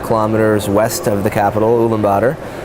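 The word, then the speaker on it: Ulaanbaatar: west of the capital uma bladder commonly mispronounced his Ummah bittar and it's a beautiful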